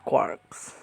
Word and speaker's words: quark: of six fundamentals consistent called quarks which rhymes with sharks although some rhyme it with forks these quarks are given